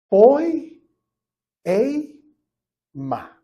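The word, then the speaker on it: ποίημα: esta palabra en griego se pronuncia de esta manera poi e ma Ajá poy Aquí tengo el amén po e ma escuchas la palabra en español poema poema ahora en el mundo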